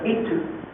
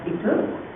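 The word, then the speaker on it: esteuf: Et ce qui se rapproche de la pelote basque, c'est ce qu'on appelle éteu, ou ça s'écrit estef, c'est prononce éteu, et c'est une pelote qui a été recouverte de peau de mouton.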